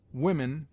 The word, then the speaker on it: women: Women is pronounced wimen.